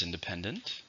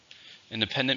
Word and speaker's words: independent: is an uncountable noun how many syllables independence same for stress on the third syllable independence America achieved independence